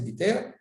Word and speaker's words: Betar: Dit le Rabbi Shimon ben Gamliel, Hamesh meod batei sofrim ayou bebiter ou betar, c'est le prononce betar, mais c'est biter.